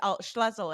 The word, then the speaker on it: Schlussel: And tell me again, because Schlussel, am I saying it right this Yes, time?